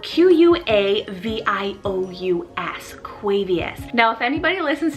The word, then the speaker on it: Quavious: to find any information on is the name quavius spelt q-u-a-v-i-o-u-s quavious now if anybody listens to hip-hop or